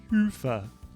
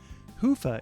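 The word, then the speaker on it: Hyvä: Commerce is sponsored by hia or as the Europeans say Hua or the right way to say hoofa is rapidly becoming the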